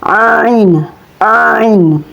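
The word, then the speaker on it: عين: Cara melafalkan ngain itu keluar dari bagian ujung tenggorokan tepatnya dari persentuhan antara bagian belakang lidah. dengan ujung ufula. Jadi cara melafalkannya ain ain sudah ada harakat fathahnya maka dibaca a begitu ya teman-teman.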